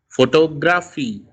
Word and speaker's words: photography: Photography, two is stressed.